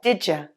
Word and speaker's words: did you: And finally, did you sounds like did ya in the third line.